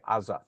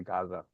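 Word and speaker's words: עזה: But is but in Israel they would say azah. They never say Gaza.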